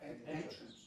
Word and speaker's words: entrance: Phonetics of that mean that we would spell it Entrince, because that's how you say it phonetically.